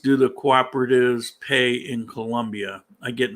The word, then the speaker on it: Colombia: It's Colombia with an OO, by the way.